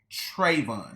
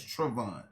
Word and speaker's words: Travon: mispronouncing my son name they were calling him trayvon his name is travon and if the kids